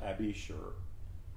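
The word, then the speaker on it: Abishur: we know abashur a-b-i-s-h-u-r it's pronounced abby sure is father of a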